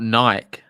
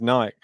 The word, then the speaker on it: Nike: See everyone in the live chat talking about Nike.